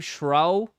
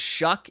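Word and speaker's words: Shough: Jesus, it's pronounced shuck.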